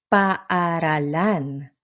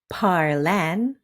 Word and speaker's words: paaralan: Even with two, three, or four vowels in a row, you say them all. Take paaralan. It's paaralan, not parlan or oo.